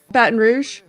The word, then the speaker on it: Baton Rouge: Baton Rouge. Baton Rou. That's a French name.